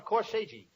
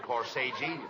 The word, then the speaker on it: corsage: I gave each one of them a corsage. No, not corsage. Corsage. That's corsage. Spelled A-G-E is pronounced like odd, as in corsage or garage.